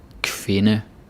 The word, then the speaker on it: kvinde: You can say in. Sind, kind, kvinde, ven. Yeah, the D is silent.